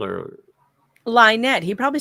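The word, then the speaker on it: Lynte: It is spelled L Y N T E. We tried Lynette. I always say Lynette, but I heard them correcting us saying, "No, it's Lette."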